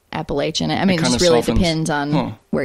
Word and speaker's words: Appalachian: People say Appalachian or Appalachian. Oh, okay. When you read it, the pronunciation. Looks like that. Yeah. But generally everyone in the area that we live in says Appalachian.